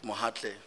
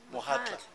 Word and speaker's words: Mohatla: it, Mohatle, Advocate Mohatle, am I saying it correctly? Mokhatla or Mohatle? First time I hear about Mohatle. Mohatla. Mohatla. Mohatla, yes. It's Advocate Mohatla.